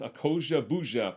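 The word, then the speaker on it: Akosua Busia: does get married i accosia bouja i looked up an interview with her and they pronounced her name so it's a koji bouja plays her sister neddy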